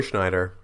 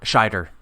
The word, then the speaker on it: Scheider: But yes, they're going to get Bridger, who of course is played by Roy Schneider. Yeah. Am I pronouncing that right? Scheider. Scheider, thank you.